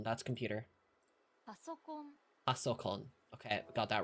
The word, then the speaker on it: パソコン: Pankon, that's computer. パソコン Pasokon.